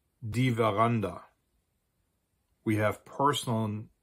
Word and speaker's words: Veranda: as French, especially French, it is almost always pronounced like a V sound, just as it would be in French or in Italian, or what we think Latin used to be pronounced like.